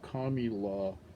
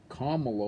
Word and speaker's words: Kamala: a different vowel so kamilah would not be a reasonable interpretation but kamala would be even though it's spelled